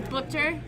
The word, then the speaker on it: Booker: your trophy to everyone Booker I got that right yeah nice we thought he was bower for the longest time no one can pronounce my name even my baseball coach is like Boker and I'm like you